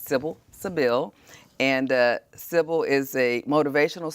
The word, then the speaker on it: Sybil Sybille: I was teasing, calling her Sybil, and she made sure I pronounced her name correctly, and it's Sybil Sybille.